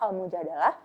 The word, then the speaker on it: Al-Mujadalah: Adapun pada edisi 1431 Hijriyah, huruf tersebut diberi dua kemungkinan harokat, fathah dan kasroh, sehingga dapat dibaca Al-Mujadalah atau Al-Mujadilah.